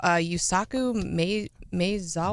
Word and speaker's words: Yusaku Maezawa: I do feel bad that I didn't look up the proper way to pronounce this guy's name. Okay. So, Yusaku Maezawa?